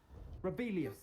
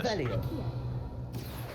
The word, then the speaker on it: Revelio: Rebellious. You're saying it wrong. Ugh, Revelia. Much better. Oh, shut up. It's Wait, like this. Revelio.